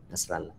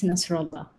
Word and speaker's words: Nasrella: Okay, Nasrella. Sorry, just you also have to help me sometimes if I mispronounce your name. You did indeed mispronounce it. It's Nasrella.